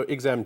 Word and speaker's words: !Xam: sure absolutely uh so exam daumans it's pronounced with a click say problem okay because